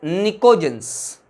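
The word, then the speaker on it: pnictogens: P silent है बेटे, these are known as निकोजेंस।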